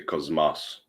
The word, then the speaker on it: Cosmos: You say Cosmos. Because you pronounce. There's a strange thing with how Greek works, but that S becomes in front of an M becomes as like a Z sound.